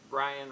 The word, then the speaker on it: Brian: Brian rhymes with lion.